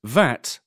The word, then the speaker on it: VAT: of tax on goods pronounced vat or v-a-t d abbreviations used in